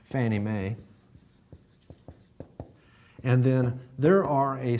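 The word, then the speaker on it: Fannie Mae: you remember I said the popular way of pronouncing this FNMA Federal National Mortgage Association Fanny May and then there are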